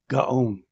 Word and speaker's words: Gaon: Gaon.